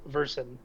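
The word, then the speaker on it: Verson: Oh, and uh the name is Versen. It is spelled V E R S O N.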